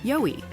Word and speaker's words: YOWIE: Just a boutique named after Australia's Sasquatch, YOWIE. It's pronounced Yowie, mate.